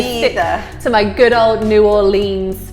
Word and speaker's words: New Orleans: I stick to my good old New Orleans pronunciation. Yeah. So some locals call it N'Orleans. No. It's hard to do. It's kind of N'Orleans. N'Orleans. So some locals pronounce it N'Orleans.